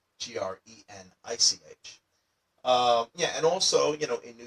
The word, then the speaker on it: Greenwich: it should be pronounced Greenwich, but it's actually spelled Greenwich, almost like it was spelled Greenich.